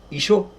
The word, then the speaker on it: Yeshua: Yeshua, pronounced Ishor.